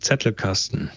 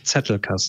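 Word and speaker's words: Zettelkasten: say it no no any german word that starts with a z or zed yeah is uh pronounced like a ts so it's settler castle cast yeah i know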